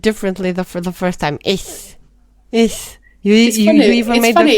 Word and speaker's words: ich: Ich is ich. It's not ish. I know it's not ish, but you said it differently for the first time. Ich.